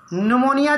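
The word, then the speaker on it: pneumoniae: निमोनिया है, diplococcus निमोनी, spelling थोड़ा अजीब है निमोनी का, उसमें पी लगा है, याद रखेंगे, निमोनिया।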